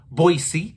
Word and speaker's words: Boise: That's right, it's pronounced Boise.